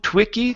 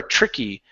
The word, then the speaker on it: tricky: word is tricky okay this is a TR sound so so instead of saying to twicky twicky okay you're pronouncing a tu saying to it's not to it's tur tur tricky or you can pronounce a CH TR Tricky Tricky Tricky Tricky Tricky